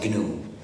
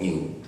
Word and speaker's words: GNU: El nombre New se escribe GNU y en inglés se pronuncia GNU, pero en castellano es más fácil pronunciarlo New.